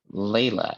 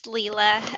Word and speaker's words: Leela: of things great um layla if i pronounce it correctly good morning hey it's leela um that's fine uh